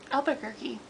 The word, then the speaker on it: Albuquerque: This is issue 14, and it's written by Scott Snyder and Raphael, how do you pronounce that name? What do you think? Albuquerque.